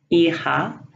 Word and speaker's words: hija: The H is always silent, such as hola, hija, habla.